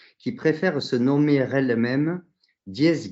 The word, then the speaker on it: Diesse: J'ai la chance de recevoir aujourd'hui Guylaine Lanctot qui préfère se nommer elle-même Dies Guy. Dies comme la contraction entre Dieu et déesse et Guy qui se prononce comme le beurre clarifié, m'a-t-elle dit.